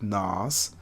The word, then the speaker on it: Nas: So I had to didn't have to start with, but I'm a fan of Nas, but like he likes it to be pronounced like Nas.